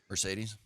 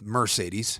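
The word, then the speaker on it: Marcedes: journalism and it's I looked at the pronunciation guide from UCLA back when Mercedes Lewis played there and it is m a r hyphen uh whatever s a y hyphen and then believe it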